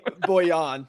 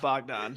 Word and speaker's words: Bojan: How do you say his name? Bojan. Yeah, not Bogdan.